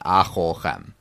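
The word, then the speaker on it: אֲכָלְכֶם: that this kamatz in acholchem, in that middle syllable there under the chaf, that is a closed, unaccented syllable. So that is a kamatz katan. That's a short O sound, acholchem.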